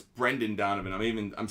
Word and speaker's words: Brendan: the raise in just one second one second Brandon oh it's Brendan Donovan I'm even I'm spelling his name wrong so his it's Brendan by the way